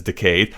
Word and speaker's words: decade: It's actually really always bothered me the way that they pronounce decade as decayed. However, apparently apparently that is period accurate that that is how they used to pronounce it or potentially could have pronounced it.